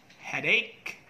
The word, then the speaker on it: headache: pronunciation stomach headache character the ch there should have the k sound so it should be stomach headache and character stomach headache